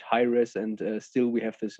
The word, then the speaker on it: Hiraes: And so we put an S at the end and replaced this TH. And so, yeah, then we had Hiraes, and still we have this meaning of the name.